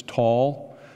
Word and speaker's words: Tall: The reason it's spelled different is, in Arabic it's tall, and in Hebrew it's tell. So a lot of times we hear tell.